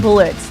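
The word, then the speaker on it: Blitzø: that sort of passion I'm Blitz the O is silent what O A thank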